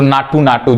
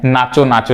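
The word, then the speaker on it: Naatu Naatu: पुरस्कार मिला है तो नाटू नाटू, जिसको हम क्या जानते हैं, नाचो नाचो जानते हैं, लेकिन उच्चारण वहां पे वो जो पुरस्कार दे रहा था वो किस नाम से किया था, नाटू नाटू।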